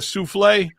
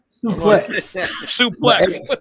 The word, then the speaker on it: suplex: And, and I'll show him what we call that move, a souffle. Suplex. The X is, in wrestling, the X is pronounced.